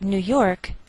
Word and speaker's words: New York: Note that we treat New York as one word and we place more stress on the second part, York.